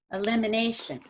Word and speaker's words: elimination: elimination again same idea you're going to stress limb and a a the most and you don't want to say elim or anything it's just the limb elimination elimination beautiful and the